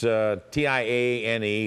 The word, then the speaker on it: Tiane: It's T-I-A-N-E. It's called, we pronounce it tian, and it's called, generally, it's baked macaroni is what it is.